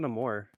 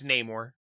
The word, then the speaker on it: Namor: got buried at Sea okay Namor is it not no more I I don't know what this is supposed to be pronounced it's Namor I'm so stupid you're